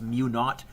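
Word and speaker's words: μ₀: It's mu with a subscripted 0, which I always pronounce as mu naught, because I had a British high school physics teacher, and that is my homage. He never said 0.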